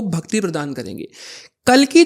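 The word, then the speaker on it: कलि: राक्षस जो कली है ना उसको काली भी कह देते हैं, कली भी कह देते हैं, लेकिन एक्चुअल में काली नाम है वैसे उसका, बट क्योंकि लोग माता काली ना समझ ले तो कली प्रोनाउंसिएशन ट्रू रहेगी उनकी।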